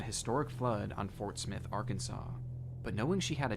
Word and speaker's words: Arkansas: You pronounce Kansas, Kansas. But for some reason, when you put AR in front of it, it turns into Arkansas.